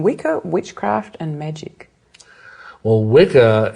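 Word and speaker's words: Wicca: Witchcraft and Magic well wickah it's it's actually the it's pronounced Witcher really it's the old anglosaxon word that means bent or Twisted originally but it it's the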